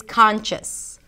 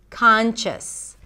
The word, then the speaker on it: conscious: first word is conscious conscious conscious means to be awake or to be aware of your surroundings and you pronounce it with a k sound at the beginning then the ah as in father khan conscious some people